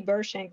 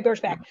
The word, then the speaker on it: Birchback: And I know that Susie Burshank normally, am I saying her last name wrong? Yeah. Susie Birchback. Okay, Birchback. She normally comes in person